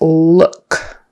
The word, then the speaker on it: look: That has a horseshoe U in the middle, It's not an O, it's not a long U, it's not a short U, it's somewhere in the middle, it's like someone punched you in the stomach, So look, book, cook,